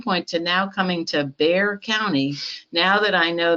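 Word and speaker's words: Bexar: forward at some point to now coming to bear county now that i know that that is how it's pronounced so i appreciate all of you who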